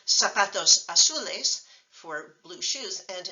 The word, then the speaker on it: zapatos: sound so in Spanish a written Z is pronounced like an S if you live in Latin America including the United States so for example you would say Zapatos azules for blue shoes